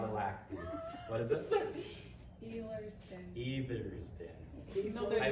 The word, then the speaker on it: Ehlers-Danlos: If I pronounce it right, Ethos Daniels? Ehlers-Danlos.